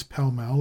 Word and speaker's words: Pall Mall: The English also pronounce Pall Mall as if it were spelt Palmal. Americans commonly give it 2 broad A's.